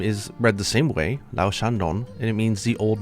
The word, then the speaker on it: Lao-Shan Lung: I believe this is a Chinese pronunciation. It might have a little bit of a twist to it, obviously, because it's Japanese, the way that they're reading it.